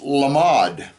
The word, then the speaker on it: lamed: Well, the word lamed is a letter. It's also, if you spell it, the lamed, mem, dalet, can also be pronounced lamad.